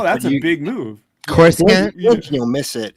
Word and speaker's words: Coruscant: I'm like, did they blow up Coruscant?